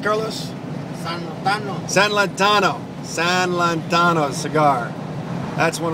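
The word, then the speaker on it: San Lotano: How's it pronounced, Carlos? San Lantano. San Lantano.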